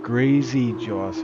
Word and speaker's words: Gracios: Is it Gracie Joes or Gracie Jos? Ik denk Gracie Jos. Gracie Jos.